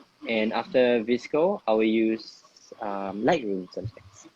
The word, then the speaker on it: VSCO: Or actually, it's pronounced as Visco, apparently. And I will use Visco. And after Visco, I will use Lightroom sometimes.